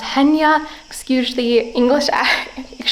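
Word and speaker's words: Chania: It's spelled Chaina, but I believe it's pronounced Henya.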